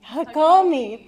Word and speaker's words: Hakomi: also a gradu graduate of a three-year hom pronounce it for me Nara hakai oh homi hakomi thank you body centered um Psychotherapy program naria